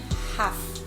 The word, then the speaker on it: half: Vocabulário dene persis hanesan ho vocabulário ne bema kita foi les praktek katak ita ignore tere letra L ne. Irane ita pronuncia hasane half.